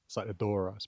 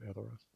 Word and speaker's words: Edoras: And by the way, then also Edoras would be, uh, pronounced so with the emphasis on on on the e, not on Saidoras, but Edoras.